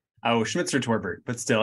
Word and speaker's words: Schmitzer-Torbert: there um so today my guest is schmeitzer torbit did I pronounce that right oh schmitzer torbert but still it's a virtually uh a